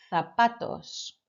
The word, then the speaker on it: zapatos: And lastly, unos zapatos. Muy bien. Just remember that that Z needs to sound like a th sound, a TH. Zapatos. Excelente.